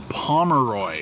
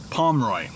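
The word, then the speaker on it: Pomeroy: a local inside because I almost called it pommeroy that's my fault I I pronounced it that way at first and then I'd stuck with my head so it looks like it says Palmer Roy but it's pal Pomroy so I hope I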